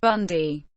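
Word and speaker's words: Bandi: Andrew Martin nicknamed Bundy pronounced Bundy born Ender Martin the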